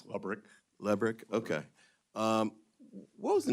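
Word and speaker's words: Lebryk: Am I pronouncing his name correctly? I believe it's Lebrick.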